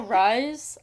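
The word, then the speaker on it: Rhys: You know, Rise. I I I was not pronouncing it Rise the entire time.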